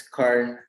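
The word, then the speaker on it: Karn: also i spell my i spell my name k a r n and it's uh it's current is is correct in terms of how you pronounce it um overview so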